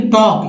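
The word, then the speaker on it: talk: बोलते भी हम लोग है पाम, लेकिन स्पेलिंग लिखने के लिए कह दिए तो गलत कर बैठेंगे। फिर देखिए टॉक, ये वर्ड तो सभी जानते हैं, टॉक नहीं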